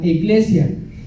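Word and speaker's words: ἐκκλησία: Viene la palabra iglesia viene del griego eclesia, que se escribe E-K-K-L-E-S-I-A, eclesia, y quiere decir asamblea.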